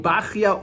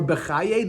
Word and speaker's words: Bachya: So we're referring to Rabbeinu Bachya or Bechaye. There are different ways of pronouncing it. Some say Ashkenazim pronounce it Bechaye, and Sephardim pronounce it Bachya.